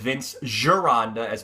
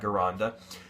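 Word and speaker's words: Vince Gironda: then cutting down again the same thing with Vince girand as people say his name's not Ganda Vince giranda said the same same thing he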